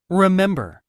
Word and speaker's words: remember: remember, Remember. R 발음할 때 혀 뒤로 remember.